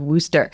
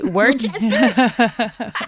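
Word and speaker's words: Worcester: And if you ask me how you pronounce Worooster, the town of Worooster, like I always want to say Worchester. Totally. Always. I might say that to the day I die.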